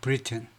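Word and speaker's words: Briton: 이거 브리튼. 발음은요, 이거하고 같아요.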